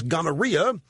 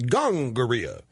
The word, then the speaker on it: gonorrhea: the other disease was gonorrhea which my health teacher in junior high pronounced gangara question did Columbus give